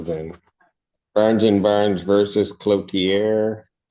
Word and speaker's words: Cloutier: Barnes and Barnes versus Cloutier. Cloutier. I always say it wrong every time. Everyone does. Your name? Jason Cloutier. Okay. And actually, that's really how it should be pronounced.